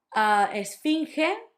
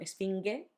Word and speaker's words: esfinge: Esfinge, sphinx. It was the ge at the end that sounds ge, not ge. No, it's not esfinge, esfinge.